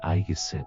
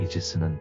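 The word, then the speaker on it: Aegis: 바쳤다 아테나는 메두사의 머리를 아이기스에 붙였다 이후 아테나의 방패는 더욱 강력해져 천하무적이 되었고 아이기스는 강력한 보호물이나 방패를 가리키는 말이 되었다 꿈의 전함으로 불리는 미국의 순양함 이지스는 아이기스의 영어식 발음이다 크로노스가 모르는 사이에 제우스는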